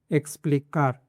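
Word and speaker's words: explicar: दूसरा rule, before consonant, consonant के पहले अगर 21 आता है, 21 के बाद में देखो तो ये कॉन्सोनेंट है प, तो इसको से पढ़ेंगे। जैसे कि एक्सप्लिकार, एक्सप्लिकार मतलब टू एक्सप्लेन, एक्सेलेंटे, एक्सेलेंटे मतलब एक्सेलेंट।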